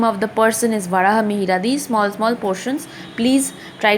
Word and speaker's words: Varahamihira: Here the name of the person is Varahamitra. This Varahamihira is a very famous person. Varahamihira. Why? Pronunciation is Varahamihira.